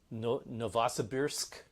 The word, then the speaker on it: Novosibirsk: So there's also another one called, I don't exactly know how to pronounce it, Novosibirsk, which is perfect.